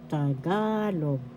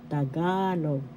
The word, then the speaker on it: Tagalog: First syllable ta, second syllable ga, third syllable log. Second syllable has the accent Tagalog, Tagalog.